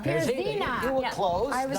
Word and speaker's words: Pierzina: So please welcome Janelle Pierzina. There you go. Have a seat. Janelle, I screwed up the pronunciation of your last name. Yes. How is it? Pierzina. Pierzina.